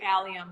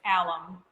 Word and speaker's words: alum: But I haven't used alum myself, and I always want to say allium, but it's alum.